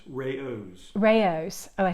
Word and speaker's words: Rao's: Sarah says that Raoul's is not Raoul's, it's Rao's.